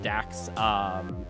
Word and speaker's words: Dak: Just call me Just Dak. say Dak. Just say Dak.